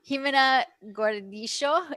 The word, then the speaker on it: Gimena Gordillo: Gimena Gordillo. Is that the correct pronunciation?